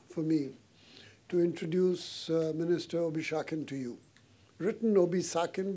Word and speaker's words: Obisakin: fact an honor for me to introduce Minister obish Shakin to you written obis sakin but pronounced obish Shakin uh it's an honor and